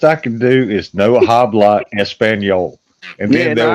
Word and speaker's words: habla: The best I can do is no habla español, and Yeah, then they'll nah, probably start talking English. Yeah. muy You can't amigo, say no no habla habla. español. You don't pronounce the H.